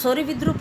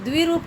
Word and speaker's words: द्विरूप: विद्रूप जो शब्द हैं, द्विरूप, विद्रूप नहीं, द्विरूप कहते हैं जिनके दो दो रूप हैं।